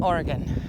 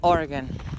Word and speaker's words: Oregon: in Washington Idaho and Oregon yes we pronounce it Oregon not Oregon I need to make